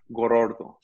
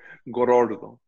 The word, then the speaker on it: Gorordo: I mean, he rolls the R at least 18 times when he says, but Joseph Gorordo.